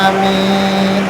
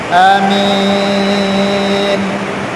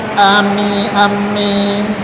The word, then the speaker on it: amin: Kemudian yang kedua caranya dengan memendekkan hamzahnya atau alifnya. Kemudian memanjangkan mimnya tanpa ditasdid. Contohnya amin. Amin. Pertama tadi dengan memanjangkan alifnya dan mimnya dipanjangkan. Yang kedua tanpa memanjangkan alifnya tapi minnya dipanjangkan. Amin. Amin. Paham ya? Itu caranya. Nah, kedua-duanya jangan ditasdid. Jangan bilang ami amin amin. Jangan.